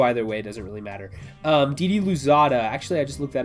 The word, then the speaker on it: Didi Louzada: Didi Louzada, actually, I just looked that up. It's Gigi Louzada, I think is how you pronounce that.